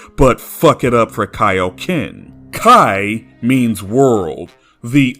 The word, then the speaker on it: Kaioken: While Funimation always pronounces King Kai's name properly, they fall into the same pitfall with pronouncing Kaioken as they did with pronouncing Saiyan.